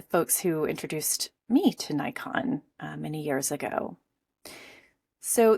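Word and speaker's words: Naikan: And I'd like to carve out some space for a lesserk known approach called Nikon. Nikon is a gratitude practice that emerges out of purand Buddhism.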